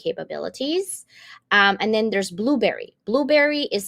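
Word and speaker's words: Blubrry: and live podcasting capabilities um and then there's Blueberry Blueberry is spelled b l u b r r y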